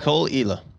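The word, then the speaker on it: Caol Ila: that do you think i'm looking up the pronunciation right yeah so it's a 12 year is islay it's cole cole cole ela age 12 years elay single malt scotch whiskey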